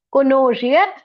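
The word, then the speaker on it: connoisseur: ಕುನೋಜಿಯರ್ ಅಂತ ಹೇಳಿ ಹೇಳ್ತಿವಿ ಕುನೋಜಿಯರ್ ಸಿ ಓ ಎನ್ ಎನ್ ಓ ಐ ಎಸ್ ಎಸ್ ಈ ಯು ಆರ್ ಆರ್ ಸಿ ಓ ಎನ್ ಎನ್ ಓ ಐ ಎಸ್ ಎಸ್ ಇ ಯು ಆರ್ ಕೊನೋಜಿಯರ್ ಅಂತ ಹೇಳಿ ಉಚ್ಚಾರಿಸಬೇಕು ಕೊನೋಜಿಯರ್ ಅಂತ ಹೇಳಿದ್ರೆ ರಸಜ್ಞ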